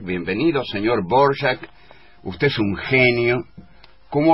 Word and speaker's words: Dvořák: de Antonín Leopold Dvořák, que se escribe D-V-O-R-A-K. En la R hay un acento a la francesa y en la A un acento al español. Bueno, en fin, Dvořák. Todos le dicen Dvořák, bienvenido señor Dvořák, usted es un genio.